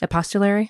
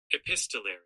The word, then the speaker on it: epistolary: Um, I don't know if that's how it's pronounced. You should pull up Google and be like, "Hey, how do you say that?" Episttolary. We said, we both said it wrong. Epistolary. There it is.